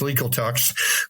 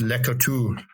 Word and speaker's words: Laclede: So, I know the French don't pronounce everything. So, it's you get here and it's legal talks, but it's French and it's Laclede.